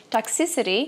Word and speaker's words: Toxicity: do sistema FN e as pessoas pronunciam o nome dessa música errado e elas não sabem. Toxicity é toxicidade e a síba mais forte é o toxicity.